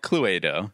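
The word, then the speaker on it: Cluedo: Latin or something but everywhere else in the world this game is called Chloe doe I don't trust the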